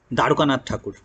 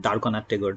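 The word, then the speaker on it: Dwarkanath Tagore: Tagore's grandfather was Darukanath Thakur, right? Darukanath Tagore, Darknath Tagore. So whichever way you choose to pronounce. So the Bengali way is usually different from the anglicized way.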